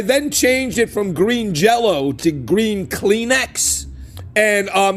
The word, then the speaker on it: Jellÿ: It's spelled jelly, but it's pronounced jello still cuz there's those um lots above the Y.